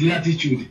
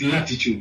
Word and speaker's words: L'titude: It's Latitude, L with an apostrophe T-I-T-U-D-E, because remember, an apostrophe is always representing a silent letter somewhere there. So yes, it's Latitude, you know.